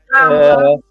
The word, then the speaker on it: Kamala: Say her name right, Kama, with the lie. Kamala is running for president, okay?